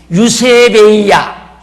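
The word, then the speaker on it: εὐσέβεια: 경건함이라는 말은 유세베이야, 헬라어로 유세베이야, 그렇게 발음이 어렵지 않잖아요.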